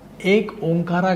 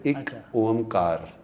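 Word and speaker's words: ਇਕ ਓਅੰਕਾਰ: time पे हां देखिए इकओमकार एक्चुअली कारा नहीं प्रोनाउंस करते हम उसको कार प्रोनाउंस करते हैं एक ओमकार ऐसा प्रोनाउंस करते हैं हम उसको इ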